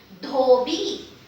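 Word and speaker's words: धोबी: So when this loop it's here, it is dha, dental D aspirated. Dha, dha with o matra, dho, and ba with e matra, b. Dhobi, dhobi.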